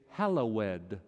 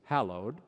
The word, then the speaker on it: hallowed: Some people put 3 syllables in the act of praise. They say, Hallowed be thy name, with a sort of ecclesiastical flourish. The English word is 2 syllables, hallowed.